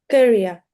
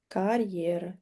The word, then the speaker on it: career: Career. The second syllable is stressed. Career.